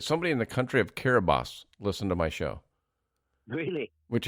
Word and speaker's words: Kiribati: never even heard it it's spelled Kiribati but there's no T in their language so it's called pronounced Carabosse so I did research